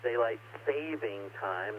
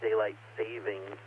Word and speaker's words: daylight saving time: the daylight saving time yes it was written and pronounced daylight saving time not daylight savings and why do we